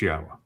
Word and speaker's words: Yahweh: It's Yahweh.